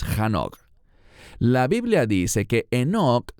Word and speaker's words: Hanoch: Eso se remonta al libro de Génesis, donde se nos habla de Hanoch o Enoch, según como pronuncie su nombre. En hebreo es Hanoch.